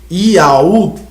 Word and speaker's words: Iau: Vamos só para as partes da arqueologia e da pronunciação do nome Iau, porque batemos tanto nessa tecla de Iau.